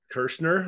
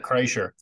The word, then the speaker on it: Kreischer: to with one of your boys there, Brett Kirschner or whatever. What's his name? Brett. Bert Kreischer. Yeah, Brett Kreischer. I really Yeah.